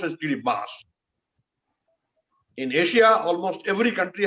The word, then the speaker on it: Kiribati: People call it Kiribati, which is wrong. It is written as Kiribati, but pronounced as Kiribati.